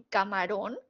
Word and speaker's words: camarón: Díganme ahora, en camarón, ¿cuál es la sílaba tónica? Bien, ron es la sílaba tónica. Es la última sílaba.